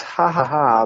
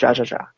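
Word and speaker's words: jajaja: It's ha ha ha, but it's spelled with a J, like Jose. Whoa, okay. So if you've ever said ja ja ja, no, it's not ja ja ja.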